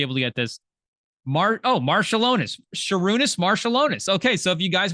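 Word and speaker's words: Šarūnas Marčiulionis: They do have pronunciation, so we should be able to get this. Marshallonis. Sarunas Marshallonis.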